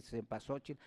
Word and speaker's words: cempasúchil: tiempo se pasó chico se pronuncia de varias maneras se olviden se pasó che depende de la región donde se hable pero es flor 20